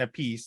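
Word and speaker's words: Appice: um it's a carmine a piece it's supposed to be called apace i think it's the proper pronunciation but i think he goes by carmine apiece you know vanilla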